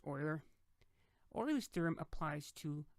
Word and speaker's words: Euler: you recall or Euler is spelled humor but pronounced Euler all those theorem applies to polyhedrons this is